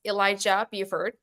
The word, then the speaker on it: Elijah Buford: And our first guest, as part of this interview series, is Elijah Buford. And did I pronounce it right, by the way?